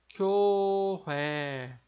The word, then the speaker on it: 교회: A igreja vai ficar 교회, 교회, 교회. Então, vejam que aqui a gente tem duas vogais compostas. A gente tem a vogal composta yo e a vogal composta ué, né?